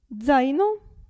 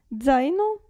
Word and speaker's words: zaino: pizza e pazza però attenzione alla z all'inizio della parola si pronuncia zaino e qui 0 calza danza pizza pazza zaino e 0 poi abbiamo